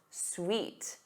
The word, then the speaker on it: suite: But the other word is pronounced sweet. Sweet.